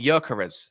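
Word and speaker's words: Gyökeres: No, oh yeah, no, Yerka, no, it's actually Yerkarez. That's how you say it. Because see the O, it's got, like Özil, he's got the 2 dots Yeah, above yeah.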